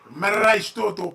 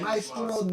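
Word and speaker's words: Maestro Dobel: You gotta say it like Maestro Doble. Spanish and shit. Maestro Doble. You gotta roll your R.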